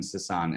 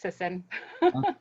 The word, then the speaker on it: Sisson: lineup uh miss sasson am i saying that right is that the proper pronunciation of your last name it's a lot easier it's just sisson then ladies and gentlemen